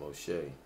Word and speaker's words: Moshe: So not Moses for me. I pronounce him Moshe.